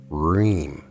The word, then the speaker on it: Hreem: The fourth and final Bija mantra of interest to us is Hreem, spelled H-R-I-M, but pronounced R-H-E-E-M. Again, the proper intonation is needed to stretch out the middle part of the mantra during chanting. Hreem.